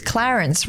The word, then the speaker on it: Clarence: on and he said, "Hey, it's Clarence, rhymes with parents." Except he didn't. He said parents.